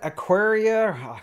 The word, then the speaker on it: Aqara: So this is that Aqara. I'm probably screwing the name up always. But hey, it just sounds like aquarium to me. It's kind of the same, so we're just going to call it Aqara.